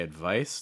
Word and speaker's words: advice: part of the word when you say advice the stress is on the second syllable right so that first syllable is very fast reduced not very strong advice advice about the